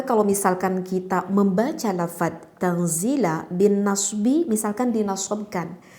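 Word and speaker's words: تنزيل: Maka kalau misalkan kita membaca lafaz tanzila bin nasbi, misalkan dinasabkan. Jadi kalau dinasabkan membacanya tanzila. Jadi lamnya itu kita dinasabkan sehingga terdengarnya fathah, tanzila, seperti itu. Tidak tanzilu, tidak tanzili, tetapi tanzila dinasabkan.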